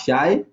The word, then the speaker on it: chi: we use this a Greek support that is pronounced as shy so we see that